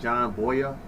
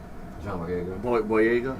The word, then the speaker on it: John Boyega: John Boyega. Boyega.